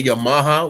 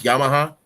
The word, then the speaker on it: Yamaha: like how people say Yamaha when it's Yamaha.